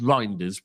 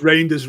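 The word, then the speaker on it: Reijnders: How do you How do you say this? It's rinders. It's reindeers. Rinders. Rinders.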